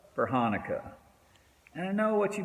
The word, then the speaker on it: Chanukah: with the letter c but the letter c isn't pronounced in either word why would i do